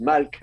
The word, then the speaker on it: melech: We don't know if it was pronounced like now in modern Hebrew you would say melech, but maybe it was pronounced malk, or but you know the consonants are the same.